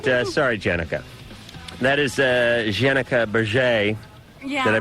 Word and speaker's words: Bergere: That is Jenica Bergere. Yeah. Did I pronounce that right? Bergere.